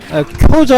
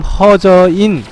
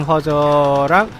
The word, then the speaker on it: 허저: 예, 말씀하신 사이에 쿄저 아니고 허저입니다. 예, 일본식 발음 쿄저고 한자 발음 허저인 우리나라식 발음 허저랑 보스전이 진행되고 있습니다.